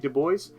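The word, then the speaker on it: Du Bois: things and man by the name of WB Dubois which is how it is pronounced again he's gonna found the n-double-a-cp or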